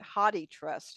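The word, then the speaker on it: HathiTrust: I gotta change that Haiti trust whoa is that only about Haiti I think it's a lot of people pronounce it hotti trust and so that's right I have or hoy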